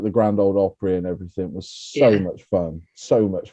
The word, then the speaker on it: Opry: neil i think you'll find it's um it's pronounced opera no what do i say opry yeah it's not prey isn't it i'm just